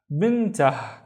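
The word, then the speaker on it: بنته: here with no vowel, so it's just tah, bintah. And bintah means his daughter, bintah. Let's look at this one. I see a syllable starting here, and I see another syllable starting there.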